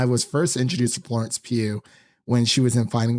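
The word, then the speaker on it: Pugh: first introduced to Florence Pew when she was in fighting with my family I thought her last name was pug for some reason because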